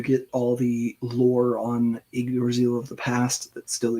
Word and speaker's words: Yggdrasil: Archie's focused on however the fuck you pronounce that. Yggdrasil? Something. I'm close. That's fine. Yggdrasil. Yggdrasil.